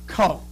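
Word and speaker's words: 口: That square is pronounced ko.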